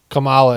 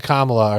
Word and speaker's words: Kamala: And, they they put the accent on the different syllable in India. And so Kamala and Kamala are completely understandable.